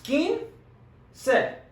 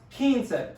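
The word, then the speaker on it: quince: just like in english it's kin se two syllables super easy say it slowly a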